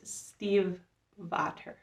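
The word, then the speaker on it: Stiefvater: mr impossible by maggie steve vader see i like steve otter steve butter uh i actually looked up how to pronounce manufacture i always want to say stephen stay figure but it's steve varter so this is the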